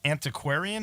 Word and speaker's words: Antiquarian: Correct me if I'm wrong, but I think he's Antiquarian. Is that how you pronounce it? Yes.